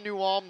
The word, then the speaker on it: New Ulm: Those that are from New Ulm know they pronounce it New Ulm.